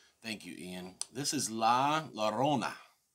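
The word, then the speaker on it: La Llorona: you Ian this is La Lona Laona you got to roll the freaking tongue jabroni if you want to pronounce it correctly all right I got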